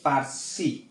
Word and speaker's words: Percy: পিতে হচ্ছে পার্সি, এটার উচ্চারণ হবে পার্সি।